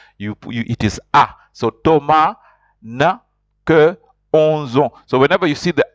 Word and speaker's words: Thomas: Thomas Thomas in Frank Thomas is pronounced you don't pronounce the S and then the H is silent so it's pronounced is